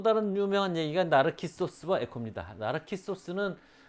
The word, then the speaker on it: 나르키소스: 나르키소스는 그리스식 발음이고요. 우리가 나르시스라고 많이 알고 있죠. 나르시스는 프랑스식으로 읽은 거예요.